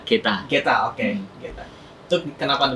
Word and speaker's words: Getter: Geta Studio, sebenarnya pronounce-nya Geta.